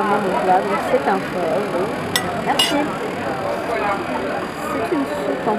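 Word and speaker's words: phở: En fait, ça s'appelle un pho. Ça s'écrit pho, mais ça se dit pho.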